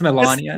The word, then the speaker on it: Melania: It's It's pronounced Melania.